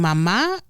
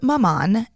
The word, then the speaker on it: Maman: Yes, so it's spelled Maman, m a m a n. It is the French word pronounced Mama.